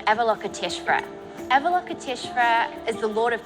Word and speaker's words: Avalokiteshvara: Avalokiteshvara. Nice. So what is it? This is a bronze sculpture from Tibet from the 17th century, and it features a character from the Buddhist religion called Avalokiteshvara.